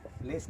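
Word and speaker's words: -less: ये शब्द आएगा तो इसके दो तरह के प्रोनाउंसिएशन है, दोनों सही है, कहीं भी आप काम में ले सकते हो इनको। उनका होता है एक तो लिस या लस, एक तो लिस या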